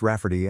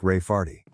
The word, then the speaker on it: Rayfarty: name my niece Rayfarty, pronounced Rafferty and not at all like Rayfarty.